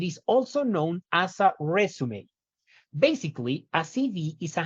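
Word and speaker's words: résumé: Recuerden que esta palabra se pronuncia resume, aunque es de las muy pocas palabras en inglés que tienen un acento, pues justamente porque es una palabra heredada del francés.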